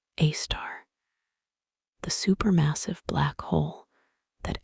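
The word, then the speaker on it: Sagittarius A*: This is Sagittarius A, pronounced A star, the supermassive black hole that anchors our entire galaxy.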